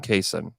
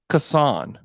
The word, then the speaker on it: Cason: weird so it went from everybody called him casein even at Kentucky everybody called him Cason fast